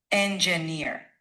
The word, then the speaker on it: engineer: La clave en engineer es alargar esa última sílaba. Así que en vez de cortarla rápido, di algo como engineer. Dale énfasis a esa ear final, practica y verás cómo se escucha más fluido.